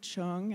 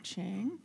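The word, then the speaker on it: Chiang: California's Treasurer John Chung please pronounce it Cheung and not change okay thank you who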